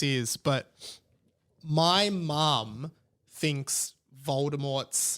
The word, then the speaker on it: Voldemort: yeah like I just she just can't say it right and you correct it's like no no it's Voldemort she's like yeah Baltimore